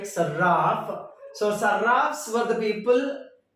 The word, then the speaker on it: Sarraf: Sarraf or Saraf, it doesn't matter, but pronounce it like Sarraf.